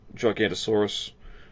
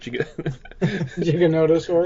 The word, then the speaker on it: Giganotosaurus: They seem to be coming to the Gigantosaurus, or how do you say it? Giganotosaurus.